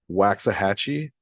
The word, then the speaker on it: Waxahachie: He's like a 6'9" power forward out of Waxahachie, I guess is how you say it, Texas.